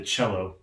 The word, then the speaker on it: cello: Cello has that CH sound at the beginning, but believe it or not, it's spelled C-E-L-L-O. There's no H in it at all.